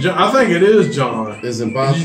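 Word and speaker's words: Jean: I think it is John. Is it Botham? It's either. Yeah, it's just spelled that way. Okay. Yeah, it's spelled like Gene, but I think it is John. It's actually pronounced John.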